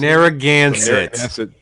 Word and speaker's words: Narragansett: What is Narragansett? Is that how you say it? Narragansett.